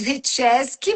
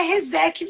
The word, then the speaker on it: Rieszecki: Olha, esse nome é russo, imaginei. Fala lá para aqueles lados retesk, mas aqui é Reseque mesmo, assim, bem fez. Reseque.